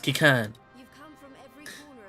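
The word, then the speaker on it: Qiqirn: Pronounced Kikern.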